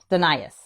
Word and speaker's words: Dinius: It's sort of how it's spelled. It's Dinius, but it's Dinius.